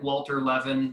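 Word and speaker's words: Walter Lewin: I know the link is not very Googleable, but if you Google like Walter Levin, spelled with a W, but I think it's German, so you don't pronounce the W.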